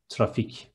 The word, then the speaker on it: trafik: Instead of C, there is K in the end, and it is trafik.